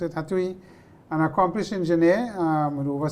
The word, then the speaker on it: Hatuey: H is silent. so Okay, Hatuey. Atui.